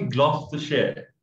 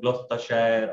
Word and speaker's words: Gloucestershire: So it's actually when we break this the whole word, it's gloss, G-L-O-S-S, from glossy, and then T-U-2.